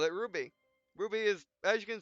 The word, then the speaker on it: RWBY: Called it RWBY.